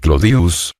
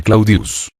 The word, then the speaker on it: Claudius: Claudia deseoso de popularidad decía Llamar clodius que era como el pueblo la mayoría pronunciaba el nombre claudius la simplificación del diptongo